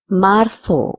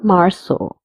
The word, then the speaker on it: marzo: Enero, febrero, marzo or marzo, because Z is pronounced as th or sa.